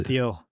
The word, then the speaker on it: Thiel: Peter Teal or Peter Theal. How do you say it? Peter Peter Theal or Peter Thiel? Peter Theal.